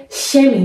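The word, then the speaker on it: Chemie: مثلا میخوایم بگیم شیمی، شیمی رو ما اینجا در زبان آلمانی هم همون کلمه رو داریم، فقط تلفظش مختلفه، اونم به صورت شمی میخونه.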